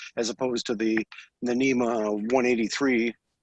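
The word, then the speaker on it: NMEA: it's basically putting out it's actually pronounced NEMA 2000 messages as opposed to the NEMA 183 like you know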